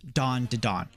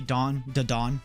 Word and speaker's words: Dandadan: manga coming out in English, and that is Dandadan. Now, people have a hard time pronouncing the name. I just say Dandadan.